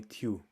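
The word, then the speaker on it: Thiu: so people call me tu so i explain i usually tell people to think of matthew and don't say matt again so too so that's how my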